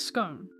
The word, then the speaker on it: scone: Well, I mean, so my last name is Stone, and a scone is spelt the exact same as stone, but with a C instead of the T, right? So surely it's scone, not scone.